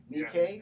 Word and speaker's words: Nikkei: How do they pronounce that? The Nikkei. Nikkei.